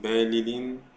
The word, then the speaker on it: Belilín: Fijarnos en la pronunciación es Belilín, Belilín, Belilín, hacerlos muy concentrados.